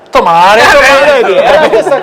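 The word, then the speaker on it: 止まれ: Tomare. Sì, che è proprio scritto, Sì. no, sulla strada. Sì, Poi, sì. Ma se legge tomare proprio.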